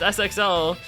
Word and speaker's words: SXL: Like, I refuse to admit it's supposed to be pronounced Sixel. Sixel. I refuse. It's just SXL.